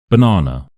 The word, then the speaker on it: banana: Banana banana. So we have ba na as a big stress in the middle.